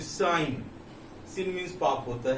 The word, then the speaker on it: sin: You have to not pronounce it सिन, that is साइन.